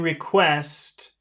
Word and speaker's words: request: all right uh in request in request which syllable has all the sound request request quest Quest reest yeah request request